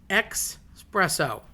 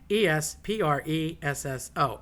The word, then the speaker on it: espresso: Uh one thing that makes me bananas, xpresso. Don't know. No. No. No. No. With all the raging coffee such as the earth is uh crazy about right now, s- spresso, okay? E S P R E S S O, espresso. Again, the double L or double L, S or any double consonant, adopia, a double you drag out a little bit, you know, espresso.